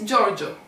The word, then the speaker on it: Giorgio: G is followed by E, and that's why we pronounce this as Gio.